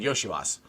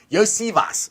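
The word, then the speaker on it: Iosivas: Cavs corrected everybody. Yosivas. So you gotta say it like that. Well, it's easy to call him Yoshivas because he's Yoshi. But right, yeah, exactly. it's actually Yosivas.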